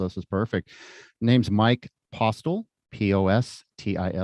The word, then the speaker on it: Postil: Name's Mike Postil, Postil, pronounced Postil.